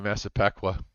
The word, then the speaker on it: Massapequa: How do you pronounce that? Hapague. Hapague. Yes, Hapague. Mazapekwa. Yeah, Massapequa.